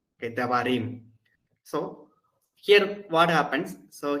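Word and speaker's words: דברים: So now in Hebrew, usually the stress is on the last syllable. So this is the last syllable. Okay, Devarim.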